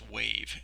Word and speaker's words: waive: last word here is wave and this is a verb so it's spelled quite differently but it's pronounced the same way as wave as in like wave your hand the defendant decided to